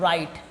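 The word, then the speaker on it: write: देखो लिखते तो है डब्लू से। है ना? डब्लू लेकिन पढ़ते क्या है? राइट। क्या पढ़ते हैं इसको? राइट। वो क्यों पढ़ते हैं? अभी वही चीज देखे कि एस के बाद और आर से पहले अगर डब्ल्यू आ जाए तो उस चीज को हमको क्या करना है? डब्लू को साइलेंट करना है।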